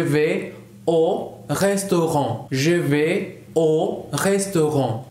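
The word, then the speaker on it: aux restaurants: Je vais o restaurant. Se pronuncia exactamente igual, solamente se agrega una X. Je vais au restaurant.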